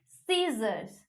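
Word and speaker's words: scissors: सीजर्स, accent, muscle, etcetera, क्या है? एसी, यानी कि सी हम लोग प्रोनाउंस नहीं कर रहे।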